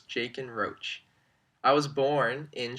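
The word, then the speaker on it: Jachin: heard is walking so if you think of the CH like the CH and Michael you'll get it right every time so it's jake and roach i was born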